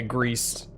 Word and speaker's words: Gris: neeva Studio it made is that griss or grease I also haven't heard of that go okay grease okay like gray in Spanish it's one of those